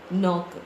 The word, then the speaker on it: knock: Knock. The K is silent.